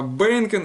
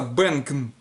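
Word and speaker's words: בענקען: Бейнкен, банк это скамья, а Бейнкен это скамейки. Вот, но пишется Бенкен. Вот если вы Бенкен скажете, во-первых, это может быть совершенно переводиться, иметь лексическое значение другого слова. Совершенно перевод может быть другой. Вот, но вас поймут, потому что в контексте употребляется.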